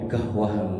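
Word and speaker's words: قهوة: Jadi mboten kohwah tapi gahwah bacanya gitu dia.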